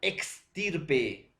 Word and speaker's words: extirpe: o parecida si profesora hay un una poquita de diferencia entre ex y es entonces profesor es parecida